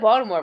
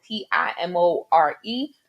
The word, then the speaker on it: Baltimore: It may be spelled Baltimore, but it is pronounced Baltimore. Okay? Baltimore. Pretend there's D and another A in there, and that's how you say it.